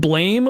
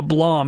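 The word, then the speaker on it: Blame!: did a thing called blame or Blom it's spelled blame with an exclamation point and I I've been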